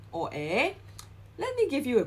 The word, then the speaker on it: 의: Okay, but in this case, we do not pronounce this '의 as '의 or '이. Instead, we pronounce this as '에. Okay, so for example, Nana's book, 나나의 책, 나나의 책. Alright, it's not '의, it's not '이, but '에.